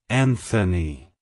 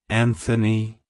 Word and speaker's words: Anthony: Antonius it's pronounced as Anthony Anthony Anthony to pronounce it correctly emphasize the first syllable and and the th